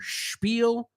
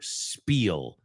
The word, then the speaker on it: spiel: But now you know that it's pronounced either spiel or spiel, but it's not pronounced like spill.